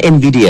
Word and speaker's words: Nvidia: ฟัง ด้วย ค่ะ ครับ ผม ออก เสียง ถูก นะ Nvidia เนาะ ใช่ แล้ว ค่ะ ถูก ต้อง เลย ครับ Nvidia ให้ บริการ